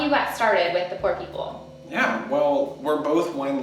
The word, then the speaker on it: Pour People: because Poor People, spell Poor People for anyone who hasn't actually seen it written out. Poor People is spelled P-O-U-R. Like poor, which is super clever.